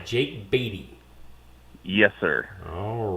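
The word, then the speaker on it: Beaty: And your last name is spelled B E A T Y. Jake Batty.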